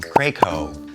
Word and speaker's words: Krakow: have the wedding Cottage this star is Aaron Krakow and Brendan penny so apparently it's Aaron craco that's the proper pronunciation I got that little tidbit from somebody